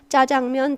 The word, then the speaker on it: 짜장면: 변화 가능하다 변동 가능하다 짜장면 자장면 둘 다 표준어입니다 왜 많은 사람들이 짜장면으로 발음하자 둘 다 허용된 발음으로 인정을 하고 있거든요 그래서 사회 구조는 변동